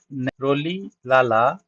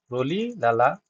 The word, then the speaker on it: Rolihlahla: His full name is Rolihlahla Mandela. Okay, Nelson Rolihlahla Mandela. H is silent here, so you should know how to speak too.